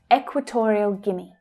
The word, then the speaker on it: Equatorial Guinea: Equatorial, where is the stress there? It's the third syllable. Equatorial, equa, equa, equator, torial, equatorial. Now, don't worry about all of the vowel letters in the second word. It's simply pronounced Guinea, Guinea, Equatorial Guinea.